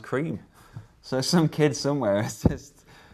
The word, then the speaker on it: Creme: the a out of that tweets it's actually pronounced cream so some kids somewhere assist made the world's